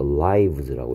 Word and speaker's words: lives: 근데 얘는 life의 복수형이니까 얘는 i의 발음이 e가 아니고 i 돼서 lives라고 읽어야 됩니다.